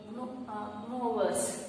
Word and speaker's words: gnawers: So those type of animals it is called as a gnawers. Okay, here G is silent. Gnawers.